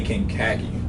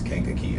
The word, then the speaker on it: Kankakee: treat what you say people say King Kagi why or people's live in khaki whenever whenever a pronounced they say can khaki is like is Kankakee I'll only have to